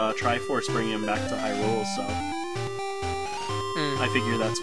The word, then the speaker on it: Hyrule: I guess it's supposed to be like Castle Hyrule or something. Oh, you put the accent on the rule.